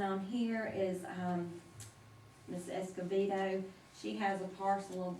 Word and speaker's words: Escobedo: first one is brenda escobedo and she she pronounces the b with the v that's the veto and she is requesting